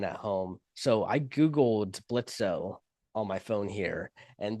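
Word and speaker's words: Blitzø: It says pronounced Blitz, but you know the the O doesn't have a slash.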